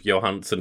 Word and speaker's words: Johansson: And that's the thing, even if she does say Johansson, like, our point still stands of Johansson is like the actual Danish way to pronounce it. It's the Danish pronunciation, same with like the Wachowskis.